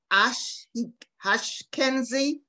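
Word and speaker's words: Ashkenazi: certain type of jews i think it's pronounced ash kenzie jews have one of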